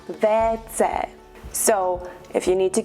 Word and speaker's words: WC: In Czechia, we also use the abbreviation WC for water closet, but in Czech, we pronounce that WC.